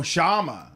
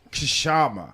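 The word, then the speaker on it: Kshama: You're talking to Dave from Seattle that can give you an update on the Shama campaign. And remember, the K is silent. Oh, Shama. Okay. I thought it was Kashama.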